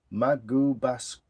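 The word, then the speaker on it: Magoebaskloof: I'll try and spell it out phonetically. Magubasclove.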